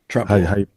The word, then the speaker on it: Trempealeau: I cannot pronounce it. Just to the north of What's that? Trem- Trempealeau.